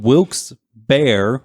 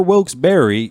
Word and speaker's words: Wilkes-Barre: a while about this specifically in wilkes-barre wilkes bar or wilkes-barre you're correct all the way around and saying it it's